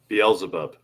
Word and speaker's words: Beelzebub: Is that how you pronounce his name, Sam? Beelzebub? Beelzebub.